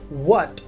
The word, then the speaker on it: what: For example, we have a word what. So what is spelled as WHAT, so H comes after the letter W, so H is silent here.